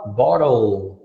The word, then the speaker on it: bottle: Mas em inglês tem o som do L de verdade. Então tu fala bottle, ou bottle. Fala de novo, com L no final. Isso!